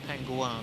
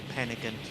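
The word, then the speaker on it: Pen-y-ghent: I think he said Penguan. I think that's how you say it, pronounce it. But I mean, you know, most people say Penigant or Penigent. You know what I mean? But apparently it's Penguan in Welsh. Or Penigent if you're severely British.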